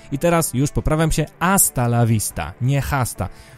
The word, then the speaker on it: hasta: I teraz już poprawiam się, hasta la vista, nie hasta. Po hiszpańsku nie czyta się H na początku.